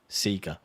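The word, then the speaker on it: Sekiro: that you do commit is is Seeker um that's it but that's fine considering considering the company themselves pronounce that that way in my country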